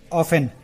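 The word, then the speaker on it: often: This ऑफन, ये ऑफन का मतलब होता है, ये इसमें टी दिख रहा है, ये टी साइलेंट रहता है, ये टी पढ़ा नहीं जाता है, इसे ऑफ्टन नहीं, इसे ऑफन ही पढ़ेंगे।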